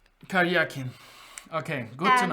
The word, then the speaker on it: Karyakin: Ah, I get it now in Russian, so it's Karyakin. The stress is on the ya, Karyakin. Karyakin.